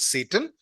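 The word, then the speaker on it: Tsetan: There is a guy called Satan. T is silent.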